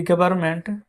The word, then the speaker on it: government: तो लिखेंगे हैज दी गवर्नमेंट, GOVERNMENT। ये फ्रेंड्स यहाँ पर एन साइलेंट रहता है, ठीक है।